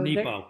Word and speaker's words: Nepo: Mark Nero was fighting cancer when he wrote this, and it's beautiful. So Nepo. Nepo. Mark Nepo.